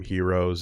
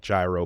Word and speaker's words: gyro: the Greek food but that's more like gyro but the word g and Y aren't pronounced because it's supposed to be hero and yada yada yada